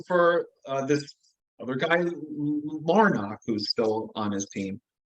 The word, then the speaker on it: Larnach: had a feeling for uh this other guy larnach who's still on his team um is that how you pronounce his name uh Trevor larnick yeah what I want to look at here